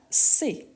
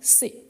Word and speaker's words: cet: H muet, on aura C, comme ça. On les prononce ici, on ne prononce pas le T, mais on écrit avec le T. Donc on dit C.